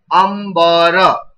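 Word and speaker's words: अम्बर: in this word ambara, what is the pronunciation of this dot that I made it in blue color? See, you can check this dot is pronounced with which sound, dear? Ma. Read this word. Ambara. All of you speak. Ambara. So you can find this dot is pronounced as ma.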